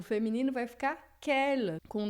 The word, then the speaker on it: quelle: E você vai ver que a pronúncia não muda nada, é a mesma, tá?